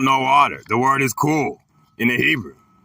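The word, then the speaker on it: כול: The Hebrew word is cool, pronounced cool.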